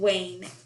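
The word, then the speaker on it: vane: official term for that is wind wayne that's spelled like a a and e now let's move forward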